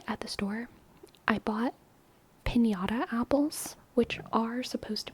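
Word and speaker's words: piñata: didn't have that so in my head I was just like panata and I knew it was supposed to be pinata but it didn't have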